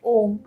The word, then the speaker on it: om: chanting we can understand there are three syllable a u m so a can be felt in the abdomen U can be felt in the heart and mo can be felt in your throat and your head and the sadhan crown